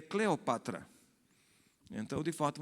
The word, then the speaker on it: Cleópatra: Por exemplo, Cleópatra, a gente diz Cleópatra, mas de fato o nome da mulher é Cleopatra.